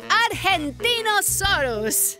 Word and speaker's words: Argentinosaurus: Deo I'm the Argentinosaurus wa that is a big name for a big Dino I have to break it up to say it right R gen teen o s us that's me so I'm